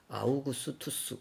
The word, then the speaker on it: 아우구스투스: 우리 개역 개정 성경에서 아구스도 이렇게 해놨는데 우리 세계사에서 영어권 사람들이 발음할 때는 아우구스투스 이렇게 발음합니다.